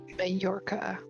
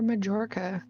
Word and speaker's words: Mallorca: Mallorca. Or Majorca. Which one? Because I've heard it pronounced both ways.